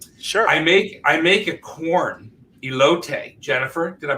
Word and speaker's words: elote: I make a corn elote. Jennifer, did I pronounce that correctly?